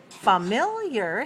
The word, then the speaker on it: familiar: word is familiar okay familiar has three syllables and it's dressed on the second right three two watch